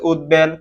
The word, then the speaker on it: উদ্বেল: বহাল থাকে যেমন হচ্ছে উদ্বেল কম্বল উদবেলের সাথে ব উচ্চারিত হচ্ছে এবং কম বলের সাথে